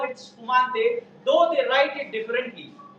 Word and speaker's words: spumante: But whereas when you go to Italy, they write it as S-P-U-M-A-N-T-E. Things are same. They call it spumante.